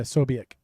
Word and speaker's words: Ksobiech: Can I get a pronunciation? No, is that so? What was it? Ksobiech? That's what I said. Yeah, Ksobiech.